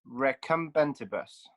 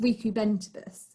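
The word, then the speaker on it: recumbentibus: recumbent bus and that's recombentibus thank you very much uh matthew it's actually pronounced um reecubentibus um so this in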